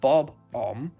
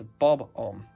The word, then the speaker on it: Bob-omb: I've learned it's not Bob-omb, it's Bob-omb.